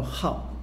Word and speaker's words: 昊: 号，那这个字呢我们读作号，上面是个日一个